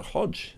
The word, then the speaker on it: Hodge: the wrong way around so Hodge became hot egg but he pronounces a Hodge and I mean well